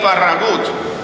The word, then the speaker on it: Farragut: We don't have to imagine that, because the first admiral in the United States Navy was David Farragut, or more accurately pronounced, David Farragut, descendant of Spanish soldiers.